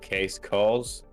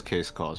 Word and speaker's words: CaceCaws: incentivized against uh uh case cause uh oh finally that name made sense to me now that i said it like that i was pronouncing it so wrong um it is case calls right we have our